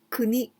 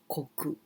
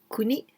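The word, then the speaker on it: 国: here this one and this is kuni the country and we can also pronounce koku but here kuni like the country now i want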